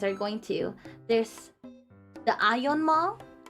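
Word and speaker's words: AEON: Well, however you pronounce it, we pronounce it ion yeah yeah yeah this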